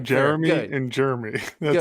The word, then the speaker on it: Jeremy: Is it 2 syllables or is it 3? I guess that's debatable. In my mind, it's J, the word air, and then the word me. But some people break it up into 3 syllables.